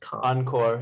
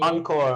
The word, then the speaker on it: encore: that one is on encore yeah it's from french that's why oh okay encore encore it means again